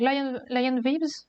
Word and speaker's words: Lion Vibes: En anglais, donc Lion Vibes ou Vibes.